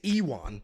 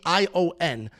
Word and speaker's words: Ion: I know Jan, actually it's Iwan, which is, this is what I'm saying. Like, I know how it's pronounced. I hear it. I watch the fights. I do the tape study. Then I watch the fights. It's Iwan.